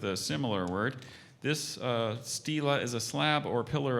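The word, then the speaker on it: stela: use it in a sentence yes the Mayan Stila was intricately carved and stood next to the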